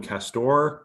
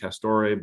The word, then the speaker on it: Castore: it broke out, but I guess you call them Castor. I thought maybe you might pronounce it Castore, but it's an English sportswear company. So I guess Castor would make more sense.